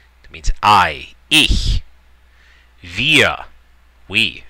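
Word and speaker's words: wir: that means i ye via we via notice pronunciation of the w is like a v via do means you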